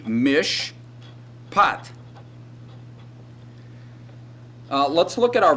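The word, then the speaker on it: מִשְׁפָּט: in this word well the first syllable is mish and the second syllable is but if we transliterated this it would be mish pot uh let's look at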